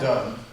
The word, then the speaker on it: Donne: The great John Donne, pronounced that way, D-O-N-N-E, said what I'm saying, what Luke was saying, better than anyone ever has in any language I know.